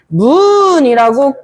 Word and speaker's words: 조의제문: 그래서 조의제문이라고 읽는 게 아니라 조의제문이라고 끊어서 읽습니다.